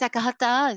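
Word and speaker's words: Akahatá: If you were pronouncing that correctly, it's Akahata. It's a Guarani word from Uruguay.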